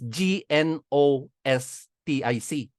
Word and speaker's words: gnostic: niyo gtic spelling ng gnostic is g n o s t i c silent G gnostic those who conducted themselves